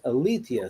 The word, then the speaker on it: Alethea: it seems like it should be pronounced Alethea. So you're the consummate expert in this. Oh my goodness. You're the historian. You should know, right? Mm-hmm. Mm-hmm. So my understanding is it was actually pronounced Alethea.